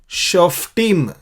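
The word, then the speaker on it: שופטים: और न्यायियों को शोफ्टीम, प फ ब भ म वो जो है हिंदी में, लेकिन फ बोलेंगे, फ को ये पे डॉट रहता है, इसलिए शोफ टीम, नॉट शोफ टीम, लेकिन शोफ टीम।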